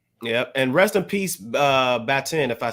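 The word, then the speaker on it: Baatin: And rest in peace, Batin, if I said the name right.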